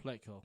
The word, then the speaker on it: Plutko: Am I saying it right? Plutko? Pletko. Pletko. So against the Rays, we're going to throw Clevenger, Bieber, and Pletko.